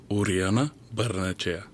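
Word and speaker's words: Urionabarrenechea: Uh here he is pronouncing his own name. Uriana Bernache.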